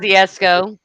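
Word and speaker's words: Kosciusko: Right, and that's in Kioski. I can't pronounce that. Kosciuszko.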